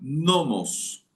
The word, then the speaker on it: nomos: Permíteme que te lo enseñe esta forma, porque la ley es la palabra en griego nomos con acento en la primera o nom y significa una fuerza o poder que predomina.